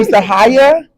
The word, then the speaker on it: Sahaya: Sahaya. Can you spell it for us?